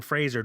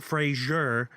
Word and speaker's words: Fraser: up where he says hi I'm Brendan Fraser not Frasier and if you if